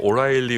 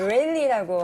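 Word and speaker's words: O'Reilly: 원어민이 아니어서 뭐 오라일리 오토모티브 안 됩니다. 오레일리라고 하는 오레일리.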